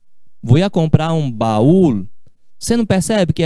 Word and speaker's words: baúl: Se diz baúl. Vou ia comprar um baúl. Você não percebe que é sílaba separada?